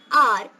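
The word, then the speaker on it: hour: The first letter in these three words might be H, but while you pronounce these words, you say are, honest, air.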